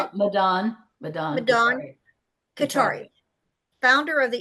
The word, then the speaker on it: Madan: Maiden, Madan. Did I say it right? Madan.